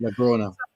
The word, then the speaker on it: Blaugrana: I do apologize to our Spanish friends and Barca fans if I pronounced it incorrectly. Blaugrana.